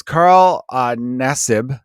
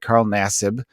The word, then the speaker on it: Nassib: The guy's name is Carl Nassib, I believe is how you pronounce it. Carl Nassib.